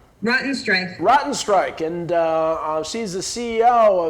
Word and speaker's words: Rottenstrich: have rotten how do you pronounce the last name matteo strength rotten strike and uh she's the ceo of zago manufacturing